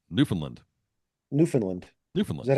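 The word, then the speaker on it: Newfoundland: you say it well the correct pronunciation is newfinland New Finland Newland is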